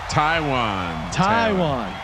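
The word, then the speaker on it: Taywan: Taiwan. So he pronounces his first name Ty and his last name Tay, even though it's spelled exactly the same.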